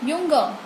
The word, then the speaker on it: Junge: Ich bin ein Junge। जे को हम German में यस प्रोनाउंसिएट करते हैं। क्या प्रोनाउंसिएट करते हैं? य।